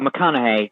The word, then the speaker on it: McConaughey: the mcnaughty look i don't know how to pronounce the connor here mcconaughey um oh mcconaughey yeah hey okay yeah i should bring some